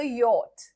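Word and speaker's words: yacht: This is called as अ यट। This is called as अ यट। सी एच is silent.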